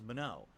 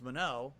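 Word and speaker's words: Manon: much it's actually official that's how you pronounce her name that's how the game says it it says mono so now I know it's Mano that's how I'll say it from now on um okay good for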